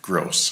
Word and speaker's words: Groce: is maybe someone can make sure that we pronounce this correctly from the get-go State versus gross gross thank you that's our case number